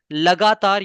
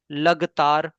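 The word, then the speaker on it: लगातार: Sometimes in place of lagatar, you say lagtar.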